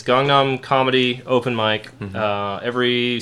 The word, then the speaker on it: Gangnam: like pan or Busan I say gangam like Gangnam style isn't that what he says he does say Kong Nom style so I assume that is the correct pronunciation cuz that's a Korean Guy saying it right yes I don't know so yeah I I it's gong Nom comedy open mic uh